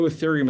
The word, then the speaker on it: ethereum: spell that for you e-t-h-e-r-e-u-m it's pronounced ethereum if you only buy